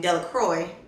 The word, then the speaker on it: Delacroix: Bobby and Harry Jones and Dixie Delacroix, the villagers pronounced his name Delacroix, eventually made a great pile of stones in one corner of the square and guarded against the raids of other boys.